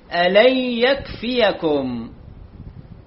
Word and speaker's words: يكفيكم: في الوجه الذي يليه صفحة 66 الآية 124 نعم كلمة إذ تقول للمؤمنين ألن يكفيكم، مو ألن يكفيكم، الياء تنتبه إلى الفتحة، ألن يكفيكم.